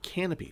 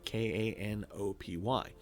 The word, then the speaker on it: Kanopy: But if you have a library card, you can set up for a thing that's called Canopy, spelled with a K, Kanopy.